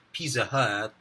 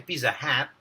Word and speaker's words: Pizza Hut: Sana po yung Pizza Hut alam din po nila na hindi siya Pizza Hut. Okay, hindi siya Pizza Hat. Okay, Pizza Hut. Yun po yung tamang pronunciation.